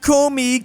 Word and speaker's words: Komi: Is that actually how you pronounce this Russian oblast though? Komi.